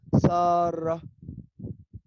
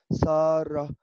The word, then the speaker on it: سارة: النطق الصحيح اللغة في اللغة العربية لهذا الاسم هو سارة. هذا النطق صحيح نفس السبيلينج باللغه العربيه سين الف راء تاء مربوطه ولكن النطق الناس بتختلف فيه هذا هو النطق صحيح ساره فبالتالي السبيلينج بتاعها هيكون